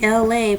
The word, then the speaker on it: Elay: It's me, Elay, pronounced like LA, like the city.